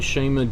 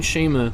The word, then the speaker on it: Schama: talks about in here, Simon Schama, or Shama. Now that I'm thinking about it, like, I think Simon Schama is how you pronounce it.